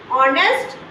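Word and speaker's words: honest: ए ही is dash ऑनेस्ट person अब यहां पे नेस्ट नहीं बोलते एड साइलेंट रहता है कौन सी आवाज आती है ऑनेस्ट ओ की आवाज आती है तो ये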